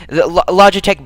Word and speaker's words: Logitech: I imagine it's Logitech, though, because it sounds like logic, and that sounds like the kind of thing that people would brand themselves as. In any case, the Logitech branding aside, I'm going